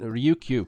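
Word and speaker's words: Ryukyu: they're the native OK it's spelled r Yu Kyu do you it's a little difficult to say but Ruku people and they are the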